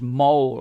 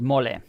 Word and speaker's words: mole: It looks like it's written like the word in English, mole. I've got a mole over here. It's a part of your face. But I know in Spanish it's mole.